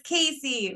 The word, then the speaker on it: Kasi: how to control them I love you Kyle but it's Casey remembery